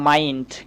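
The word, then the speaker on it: mind: ধরেন আমি বললাম মাইন্ড। খেয়াল করেন মাইন্ড মানে হচ্ছে মন। তো এখানে কিন্তু আই এর পরে আবারও দেখেন আমরা এনডি দেখতে পাচ্ছি। তাই আমরা আইকে আই এর মত উচ্চারণ করব।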